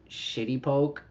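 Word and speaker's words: shitepoke: Shitty poke. This is a bird. the green heron, but it's spelled s h i t e p o k e.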